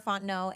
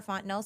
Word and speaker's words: Fontenot: Again, my name is Fontenot, and you can find me at Ms. Fontenot. So MSSARAHFONTENOT. The T is silent.